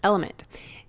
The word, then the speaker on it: LMNT: It's spelled LMNT, but pronounced Element.